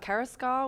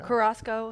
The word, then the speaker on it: Carrasco: Mitch, Joseph Bielmir, Victor Carrasco, which I don't even remember the last time. Yeah. Carrasco, sorry. Put the wrong emphasis on the wrong syllable.